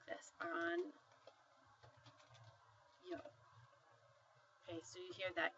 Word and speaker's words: año: It basically is that one letter makes the sound of the N and Y written together.